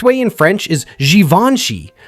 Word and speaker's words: Givenchy: Most people say it wrong as Givenchy, but the correct way in French is Givenchy. Notice how the G turns into a soft J sound and the middle is smooth.